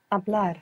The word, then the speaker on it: hablar: To speak, began with a silent H. I don't know if you remember this verb. Hablar.